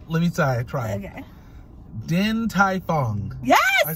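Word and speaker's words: Din Tai Fung: know it i just don't know how to pronounce it all right wait let me try try okay din tai fong yes i said it right yes okay 100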